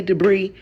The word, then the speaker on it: debris: Why debris? Why is that s there? If you wanted me to say debris, why didn't you just spell it d e b r e e?